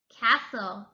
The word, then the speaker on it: castle: Castle, castle. The T is silent.